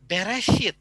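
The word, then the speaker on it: בראשית: Musa makanya pengusaha menuliskannya itu adalah bereshit karena eh pelafalannya juga Bere hit airnya Nah kita coba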